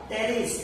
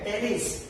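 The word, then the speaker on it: Pteris: Pteridophyta के नेफ्रोलेफिस, मार्शलिया, टेरिस, ये देखो पी यहाँ पे साइलेंट है, टेरिस।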